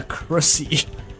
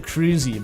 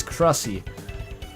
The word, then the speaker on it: Crussy: Yeah, Crussy. That's Chris and Susie. People pronounce it cruisy, but like, you look at that and it's Crussy.